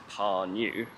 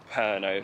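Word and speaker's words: Pärnu: to drive to herno I was pronouncing it as par new in my last episode but we're driving there because we're staying in perno for the next three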